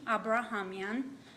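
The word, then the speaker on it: Abrahamyan: and you just state your name and then spell it for me please my name is abrahamian a-b-r-a-h-a-m-y-a-n you guys hearing her okay do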